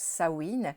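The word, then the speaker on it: Samhain: anciennes traditions celtique puisque les Celtes fêtaient le Sain, ça se prononce Sain le 31 octobre et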